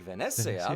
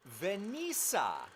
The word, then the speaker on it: Venezia: It should be something like Venezia, but I instead called it Venisa.